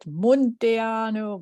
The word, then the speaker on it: Munteanu: That's pronounced, well, I pronounce it Munteanu. I should be pronouncing it Munteanu, but then I'd have to move my hands to say it.